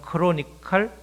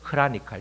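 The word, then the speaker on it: chronicle: 크로노스 우리가 연대기라고 하는 역사를 시간순으로 쓰는 연대기를 영어로 크로니클 영국식 발음은 크로니컬 그 다음에 이 미국식은 크라니칼, 이렇게 크로노스가 거기서 나왔는데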